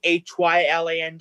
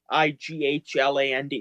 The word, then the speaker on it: Hyland: It should be Hyland, not Higghland.